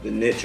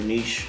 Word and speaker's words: niche: And then we have the niche or niche, however you want to pronounce it, that's cut out in the shower for our soaps and things.